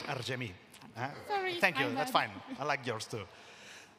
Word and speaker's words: Argemi: And now we call Argemi. I hope I pronounce it right. You pronounce it beautifully, but it's really Argemi.